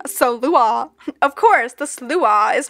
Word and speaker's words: Sluagh: Slay. Sluagh. You're saying it wrong. Sluagh.